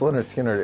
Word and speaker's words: Lynyrd Skynyrd: heart of American culture across the following year pronounce Leonard Skinner is a very very strong debut it announces